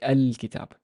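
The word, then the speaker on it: الكتاب: then the use of the alif is gone so we say but without the alif without the wow I have to kind of create an imaginary vowel and say al-kitab so a difference between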